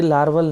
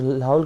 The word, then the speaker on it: Lahaul: और फ्रेंड्स ये लार्वल नहीं है, इट इज़ लाहौल, ठीक है।